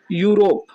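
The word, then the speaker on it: Europe: यूरोप, ये क्या लिखा है? यूरोप। तो हमें ज़्यादा से ज़्यादा उसके उच्चारण पर ध्यान देना है। उच्चारण ध्यान देंगे तो सारी चीज़ें क्लियर हो जाएंगी। तो यूरोप में यूरोप को यू लिखते हैं, यू रोप।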